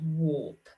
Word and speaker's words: warp: on your skin and warp okay so we've got warden warts and warp and even though they've got the ar in them we pronounce it as the o r sound right so you're going